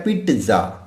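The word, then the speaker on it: pizza: जैसे for example अगर मैं फॉर एग्जांपल पिज़्ज़ा, तो ज़्यादातर लोग 95 96 97% लोग जो है वो पिज़्ज़ा बोलते हैं, लेकिन इसका जो करेक्ट प्रोनाउंसिएशन है वो होता है पिट्ज़ा। पिट्ज़ा, नॉट पिज़्ज़ा, this is पिट्ज़ा।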